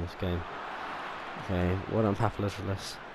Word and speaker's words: Papadopoulos: Okay, what on Papadopoulos? Papadopoulos, even. Papadopoulos. Yeah, it's pronounced like that.